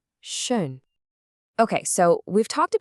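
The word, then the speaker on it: schön: Shape your lips like you're about to say ooh. But then with your mouth in that shape, try to make an e sound with your tongue. It brings the sound right to the front of your mouth. Go on, try it. Ooh. Shun. Not Shane, but Shun.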